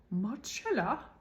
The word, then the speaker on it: Marcella: differently there's a show called Marcella it's English m-a-r-c-e-l-l-a it looks like Marcelo but it's pronounced muchella you know watch Marcella just watch that show